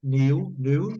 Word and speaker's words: knew: No, knew. no, A pronúncia é new.